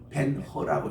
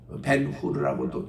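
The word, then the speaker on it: Ben-Hur: 이거를 우리말로 벤허라고 읽죠. 벤후르라고도 읽을 수 있는데, 그래서 여기서 나오는 집안이 허시 집안입니다.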